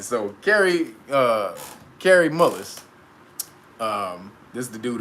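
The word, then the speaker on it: Kary Mullis: because everybody that ain't his name is gary gary mullis all right so carrie uh carrie mullis um this is the dude who created the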